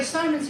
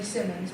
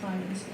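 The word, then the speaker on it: Symonds: and by the way Simons is the way the Grants pronounced it and they knew them all their adult life. I know a lot of people say Simmons but they say Simons.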